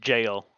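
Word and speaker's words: gaol: It's actually pronounced jail. It's Like jail.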